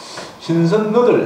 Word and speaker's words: 신선너들: 용수골은 시천면 종살에서 칼바위골과 순두루 사이에 2km쯤 올라 다시 3km 가서 신선여들 이렇게 되어 있더라고 표기가. 신선여들 그렇습니다. 대만 하시네. 신선너들 이래야 됩니다. 그 너들은 요 말이 변한 건데 이 발음이 우리가 구분 안 되죠.